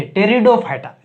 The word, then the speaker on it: Pteridophyta: एफी क्या है? साइलेंट है। टेरिडोफाइटा।